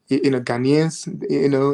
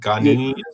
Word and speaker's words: Ghanaian: I mean, and also again, we have a lot of like Ghanaians, like me, that has been living in US,